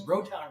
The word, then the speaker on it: Rotown: So I came up with Rotown Music because, I guess Rotown rhymes with Motown, which is a famous record label.